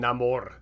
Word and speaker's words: Namor: That's why I was saying Namor, because that's how they pronounce it in that movie.